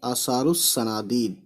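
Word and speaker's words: آثار الصنادید: शोहरत व मकबूलियत उन्हें आसारुस सनादीद, देखिए क्या पढ़ रहा हूँ मैं, आसारुस सनादीद, तो रे पढ़ रहा हूँ मैं, यानी कि आसारुस, रे के बाद अलिफ लाम को साइलेंट कर दिया है ना।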